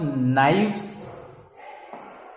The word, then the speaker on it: knives: You know the spelling of knives? It is the plural of knife. K-N-I, okay, K-N-I-V-E-S, knives. K is silent, N-I. So these all 3 letters, only K is silent. Knife. Then V-E-S, knives.